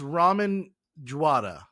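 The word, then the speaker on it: Ramin Djawadi: I think it's Ramen Djawada is how you pronounce it.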